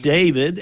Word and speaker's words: D4vd: Well, so what we know is that it's not pronounced D4 VD, it's pronounced David.